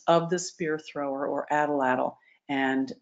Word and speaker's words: atlatl: These people developed a kind of tool called the spear thrower or atlatl, and that's spelled A-T-L-A-T-L.